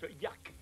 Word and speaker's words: Yark: Pour être plus exact, le nom de cette créature se prononce Yark.